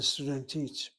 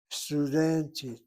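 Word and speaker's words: סטודנטית: The accent is over the second to last syllable. Studentit, not studentit. Studentit.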